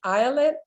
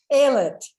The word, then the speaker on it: Ayelet: excited about what you're saying i hope i'm pronouncing your name right islet is it um billy thank you sorry it's terrible when you pronounce names wrong aylat thank you um and and natalie because what